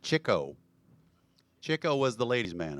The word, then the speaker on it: Chico: that guy was and we always thought it was Chico right I've watched interviews with dick cavity he pronounced it Chico Chico was The Ladies